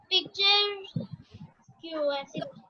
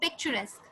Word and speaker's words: picturesque: Picture. QS. No, it's pronounced as picturesque.